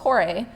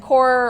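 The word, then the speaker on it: Kore: we have the Peplos Chore from the Acropolis. And Chore or Chore, both pronunciations I've heard, they work.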